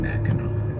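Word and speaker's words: Mackinac: British came second but they are both pronounced the same Mao see this whole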